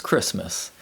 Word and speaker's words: Christmas: There are several common words which contain the silent letter T, such as Christmas, and the silent letter D, such as grandfather.